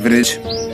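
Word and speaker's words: bridge: यहाँ तीनों जो आपको शब्द दिखाई दे रहे हैं यहाँ पर हमने डी का उच्चारण नहीं किया है क्योंकि यहाँ पर डी का साइलेंट हो गया है।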